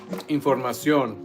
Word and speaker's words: información: Yeah, but it's based on your pronunciation, like información, accent on the O.